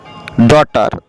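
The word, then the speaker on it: daughter: আমরা এখানে দেখলাম যে ডটার, এরপরে রয়েছে মাইট মানে শক্তি, মাইট MIGHT।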